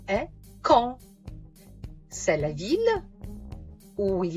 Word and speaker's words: Caen: Mais attends, il y a un nom d'une ville en Normandie dont la prononciation est Caen.